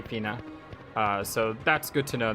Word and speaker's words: Fina: I don't know if I said that yet already this episode, but it is Fina, just like F-E-E-N-A, Fina.